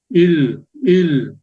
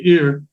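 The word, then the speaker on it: 일: It says here that it's kind of like an R. Well, yeah, more or less like an R. But anyway, it's il.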